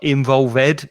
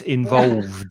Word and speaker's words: involved: Be careful of the pronunciation with that ed ending. Yeah. It's not involved, it's involved.